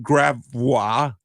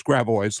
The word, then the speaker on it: Gravois: For example, we have Gravois. No, it's Gravois, ladies and gentlemen, of course.